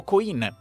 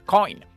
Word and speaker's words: Coin: alimentare Andò al gruppo Coin Anzi ho sentito che molti lo pronunciano Coin pensando un riferimento al mondo anglosassone Coin moneta No è Coin un cognome Veneto del resto lo diceva